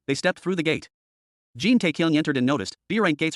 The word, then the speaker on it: Jin Taekyung: You're Jang Taekyung from Peace Guild, right? It's Jin Taekyung, he corrected. Chang Su mispronounced it again. Jin Taekyung got annoyed.